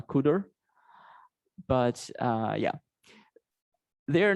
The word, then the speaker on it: cdr: called car and cdr which i think is pro pronounced uh kuder but uh yeah they're